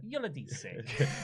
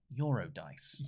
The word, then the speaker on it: Eurydice: Yoladise. Eurydice. Yoladise. It's actually pronounced Eurodice. Eurydice.